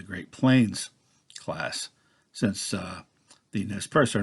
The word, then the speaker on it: Nez Perce: He was a member of the Nez Perce, which, if pronounced according to the correct French, would be Ne Perce. But Nez Perce is the Americanized, kind of like Iroquois and Iroquois.